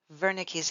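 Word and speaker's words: Wernicke: Aphasia is Veri so I know there's a w there but it's pronounced like a V Veri vernick's area so it interprets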